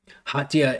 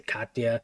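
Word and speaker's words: Khartiia: Hatia it's spelled like KH, so sometimes I say Hatia or sometimes I say Katya. It's like Kharkiv, KH, right?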